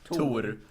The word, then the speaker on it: Tor: Yeah, it's the not Marvel pronounced Thor. It's pronounced Tor.